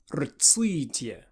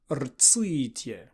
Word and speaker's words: rtslitye: An absolutely bizarre word that we will be pronouncing is rtslitye, rtslitye. It's got the strange Russian vowel in it. It's got an R next to a T at the beginning of the word.